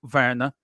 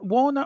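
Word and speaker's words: Werner: I'm really pleased with verer is it Warner or ver V pronounced W as a v in German verer verer verer um I'm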